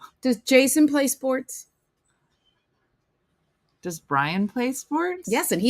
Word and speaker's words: Brian: So it's Brian, not to be confused with Brienne, because I said it wrong for at least the first 2 years. It's Brian. Brian. Don't say Brienne.